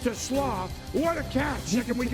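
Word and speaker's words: TeSlaa: It spelled like Tesla, but it's TLO.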